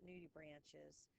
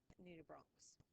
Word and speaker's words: nudibranchs: Now, I've told you guys, I think before, that we don't pronounce the CH in science as a ch. They're not conches and they're not nudibranches. It's a hard C, like nudibranchs.